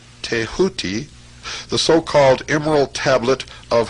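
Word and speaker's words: Thoth: ibus headed scribe of the Gods tho pronounced touti the so-called Emerald Tablet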